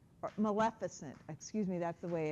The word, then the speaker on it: Maleficent: complacency right how many of you have seen Maleficent or Maleficent excuse me that's the way it is pronounced okay I went to go see it